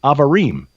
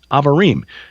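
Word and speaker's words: Abarim: in the English translation, it's spelled A B A R I M pronounced Avarim. Avarim uh that means travelers climb this mountain of the travelers.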